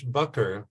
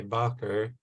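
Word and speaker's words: Bakker: is in Dutch it's bucker but in English I say backer it's not Baker it's two k's in there so it's not the traditional English Baker and the University where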